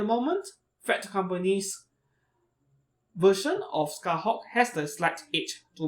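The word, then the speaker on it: Scathach: Yeah, her name is Scarhawk apparently, not Scartouch. So one of you corrected me on my pronunciation in my figure review, Alter's version of Scarhawk. So I'll make sure to bear in mind about that mistake. I'm so used to pronouncing Scartouch, though that is not really the way to pronounce her name.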